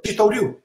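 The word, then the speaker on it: Shitō-ryū: So he said, Shitoryu. So I said, I get the idea. I can use the alternative pronunciation for Tei.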